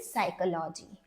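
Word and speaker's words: psychology: skip कर सकते हैं पी एंड एस में again the S will going to make sound like in साइकोलॉजी okay and इन जी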